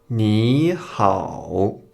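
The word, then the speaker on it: 你好: comme en deuxième dont par exemple ni hao ni précède un autre troisième dont ton qui laissa prononce comme deuxième temps ni répétez après moi ni hao le deuxième changement quand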